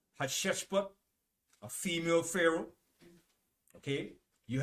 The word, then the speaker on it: Hatshepsut: Her name is spelled Hatssheput. Hatshepsut.